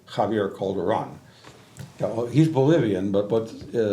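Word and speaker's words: Javier Calderón: And Javier, I should say it correctly, Javier Calderon.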